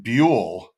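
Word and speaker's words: Buhl: It is pronounced Bule or is it is Bu? Bule.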